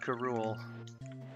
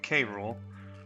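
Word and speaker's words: K. Rool: And then I can fight that bastard Karule. Oh, sorry. I was using the TV show's pronunciation. K Rule.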